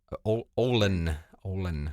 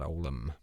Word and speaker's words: Ohlen: Ohlen, not Olam.